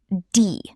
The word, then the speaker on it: die: The correct pronunciation is die. Die. Not die, Katze. Something terrible is happening to the cat. Poor cat. Pronunciation trick. Die rhymes with free.